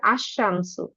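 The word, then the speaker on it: الشمس: এখানে হচ্ছে আশশামসু। এইযে লামের উচ্চারণ কিন্তু করছি না।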